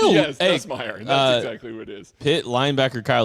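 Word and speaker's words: Nussmeier: Yes, Nusmeer.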